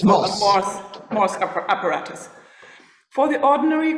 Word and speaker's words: Morse: I don't know the correct pronunciation. Anyone, native English speakers? Morse. Morse, thank you. It's Morse.